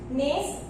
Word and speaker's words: gneiss: Gneiss, it is pronounced as gneiss, not gneiss.